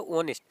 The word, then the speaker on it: honest: तो ये आपका क्या है, ऑनेस्ट, इसमें ही क्या है आपका एच साइलेंट होता है।